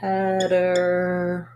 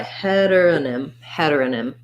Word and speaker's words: heteronym: This Y says the if vowel, first syllable stress, and that has the same vowel as in pregnancy, the F vowel. The T ends up being a flap, so it sounds kind of like a D.